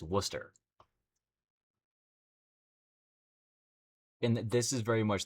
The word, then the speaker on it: Worcester: There's a town in Mass called Worcester, but it's spelled with like WC. It looks like it's just say like Warchester, but it's it's Worcester.